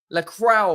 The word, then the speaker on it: Lacroix: Lacroix, whatever he's called. Lacroix. Mate, right? Henry, it's La Croix, okay? It's not that hard, mate. It's 2 syllables, bro.